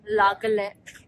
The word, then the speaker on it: La Calle: I go to ये this पीछे beach जो club, La Calle. I think that is how it's pronounced. Yes.